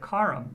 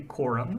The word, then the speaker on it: Coram: like Coram and Zoram, according to Webster 64, they should be pronounced with the bother vowel, like the word orange or the word tarit. So we really should see something like karam or zaram. And we don't. We say koram and zoram.